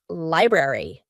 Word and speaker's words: library: Well, in this case, ARY at the end of words is going to indicate that in American English, we're going to pronounce the full word library, secretary, military.